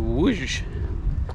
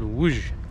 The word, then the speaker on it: Łódź: I'm going to be leaving tomorrow, and I'm going to Łódź, and that's how they told me to pronounce it. And to us, it looks like L-O-D-Z, something like that, but it's called Łódź in Polish.